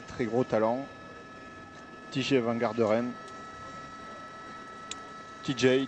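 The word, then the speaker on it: Tejay: TJ Varderine TJ TJ TJ oui on pronce à l'américaine.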